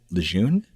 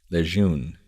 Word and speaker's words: Lejeune: Camp Lejeune?